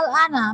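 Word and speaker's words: آلْآنَ: Perhatikan, 6 harokat atau 3 alif. Al-ana. Saya ulang kembali. Al-ana.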